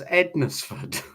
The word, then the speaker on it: Hednesford: It's spelled Hednesford. So it's Ednesford.